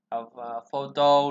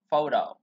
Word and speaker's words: photo: Từ này chuẩn của nó chúng ta phải đọc là photo. Chữ T này này trong T này trong tiếng Anh Mỹ nó người ta sẽ chuyển nó thành âm D, đọc như kiểu D